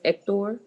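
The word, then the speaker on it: Héctor: So it's just Hector? Yes, the H at the beginning is never pronounced.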